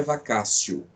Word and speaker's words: vacatio: Se escreve vacatio, mas a pronúncia é vacatio, tá? Então, em latim, o T tem a pronúncia de C, tá? Vacatio legis.